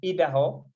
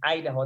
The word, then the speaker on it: Idaho: pronounce the Idaho, because I was pronouncing it as Idaho. Then she told me it is Idaho, that is in the US.